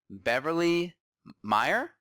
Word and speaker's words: Beverly Meyer: here with Beyond Wellness radio and we got Beverly Meyer I say it right Bev yes that's right